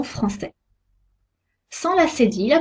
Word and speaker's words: français: Un C cédille se prononce S, comme la lettre S. Sa, so, su. Exemple, un garçon français.